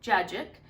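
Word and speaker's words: cacık: So Turkish yogurt is called Cacik. It's spelled C-A-C-I-K.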